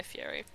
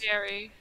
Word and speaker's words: Fieri: I forgot that I have a fish called Guy Fieri.